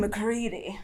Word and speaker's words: McCready: off my name's mccready rhymes with cd a sexual harassment that